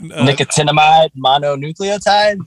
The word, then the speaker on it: nicotinamide mononucleotide: an acronym a sexual move what is that nicotinamide mononucleotide is that how you say it yeah you